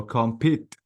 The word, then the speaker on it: compete: compete, Yeah, this E is long, please. So compete.